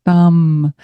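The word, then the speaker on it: tam: And so let's imagine as we sound one sound, it's a T-A-M, thumb. Her seed, it's like her seed syllable, bija mantra. And as we sound thumb, we will feel our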